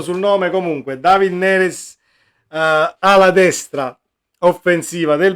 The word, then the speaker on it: Neres: notizia che sta spopolando da stamattina è David neres o neres credo che si dica neres perché